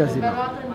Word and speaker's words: Azéma: Alors, Azéma. Azéma, ça s'écrit.